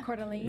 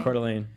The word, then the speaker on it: Coeur d'Alene: So, and you have to pronounce this. I know it's Idaho, but I'm like, Coeur d'Alene. I don't know. Yeah. Coeur d'Alene. Yeah, Coeur d'Alene.